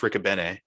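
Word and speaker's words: Riccobene: ricka bean i'm sorry i believe it's pronounced ricobene r-i-c-c-o-b-e-n-e he's uh very popular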